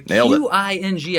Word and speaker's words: Qing: The Qing, I believe, is pronounced King, right? King.